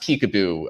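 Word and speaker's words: PCAOB: accounting oversight board uh for some reason it's pronounced peek-a-boo uh when in dc i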